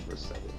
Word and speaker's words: Vercetti: like previous installment, like Vice City with Tony Vercetti. Am I saying it right? Tony Vercetti.